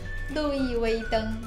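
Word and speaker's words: 路易威登: 루이웨이등 아니면 그냥 LV 중국인들은 LV라고 해요. 쌤이 지금 LV라고 얘기한 건데 네. 중국의 V 발음이라서 두 번씩 해주세요, 쌤.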